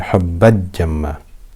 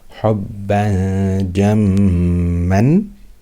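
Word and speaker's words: حبا جما: I'm not clearly pronouncing the tanween. I'm not saying hubban jamma. I'm not doing idhar. Likewise, I'm not doing idgham. I'm not merging the tanween into the jim. I'm not saying hubbad jamma.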